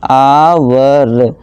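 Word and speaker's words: hour: तो ए लगाना चाहिए लेकिन देखिए दोस्तों जसे जब हम इसे प्रोनाउंस करते हैं तो उसे क्या पढ़ते हैं इसे पढ़ते हैं आवर और यहां देखिए सबसे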